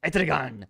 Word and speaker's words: Etrigan: Etrigan. I'm sorry. I when you read it, it sounds Spanish, but Etrigan.